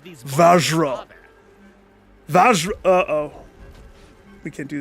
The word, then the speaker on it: Vajra: As a matter of fact, is that an image of the flute going in betwixt that Vajira right there? It's pronounced Vajra.